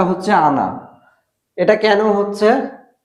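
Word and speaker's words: она: আনা। উচ্চারণটা হচ্ছে আনা।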